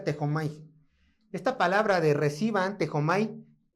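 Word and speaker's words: δέχομαι: Es la palabra, bueno, vean cómo se escribe, pero se pronuncia así, tejomai. Así se escribe, pero se pronuncia tejomai.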